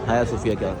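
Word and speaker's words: Hagia Sophia: हाया सोफिया heli सि एच ए जी आई ए है लेकिन इसको प्रोनाउंस हाया सोफिया कहा जाता है और उसके साथ ही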